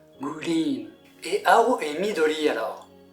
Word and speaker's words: グリーン: Attention toutefois à la prononciation légèrement différente en japonais, green.